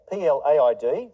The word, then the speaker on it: plaid: And the last word is plaid, P-L-A-I-D, Americans say plaid, which is sort of